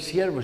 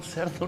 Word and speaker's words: siervo: Pero el portugués o el brasileño no sabe decir siervo, sino cerdo. Y claro, las personas se quedaban extrañadas y le decían a su hermano cerdo. Le digo, no, cerdo no, siervo.